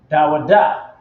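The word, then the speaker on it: דוד: Okay, quick side note, King David, his name in the Hebrew is Da Wa Da. Da Wa Da, right? That's how you pronounce his name.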